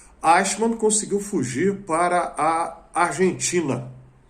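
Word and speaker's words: Eichmann: que é brasileiro pronunciar porque tem um C no meio né é um som palatal que não existe em português mas enfim vai a mesmo se for errado os Os Germanos nativos quem tem alemão como língua Nativa perdoe aqui a minha pronúncia ashman conseguiu fugir para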